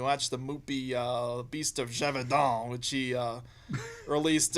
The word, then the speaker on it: Gévaudan: You watch the movie Beast of Gévaudan, which he released. It's how they say it. It's French.